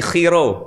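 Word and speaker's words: Chi Rho: X dalam bahasa Yunani bacanya Khi. Oh, ulangi. Khi khi dan P dalam bahasa Yun dibacanya row. Row. R berarti khiro.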